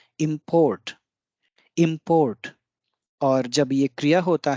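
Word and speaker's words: 焼き: तो इस साइन से हम ये डिनोट कर रहे हैं कि या पे बल कम होगा, की पे बल अधिक होगा। यानी कि इस शब्द का उच्चारण होगा याकी, याकी।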